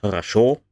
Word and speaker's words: хорошо: One is хорошо. It is pronounced the same as the lower one with A, but it is written with O, because historically it was хорошо.